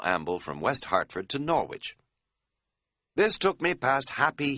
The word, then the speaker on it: Norwich: notable for three things for being pronounced Norwich it used to be Norwich before it got taken over by Outsiders in the 1950s for being the town